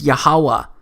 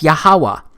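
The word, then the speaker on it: יהוה: But this YHWH, it's pronounced as YAHAWAH, because it turns out that the language was so simple back then that it vocalized each consonant with an ah sound without specifically marking that sound between consonants. So this YHWH, it's pronounced YAHAWAH.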